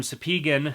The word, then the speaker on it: Spigen: case we're looking at is from sepeegan that is how you pronounce it i asked them um sapegan and this case is